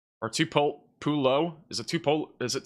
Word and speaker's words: Tupelo: Tell me how to pronounce tupulo or tupollo in Mississippi. Tupelo Tupelo Tupo. Tup Tupelo. Tup Tupelo. You got it.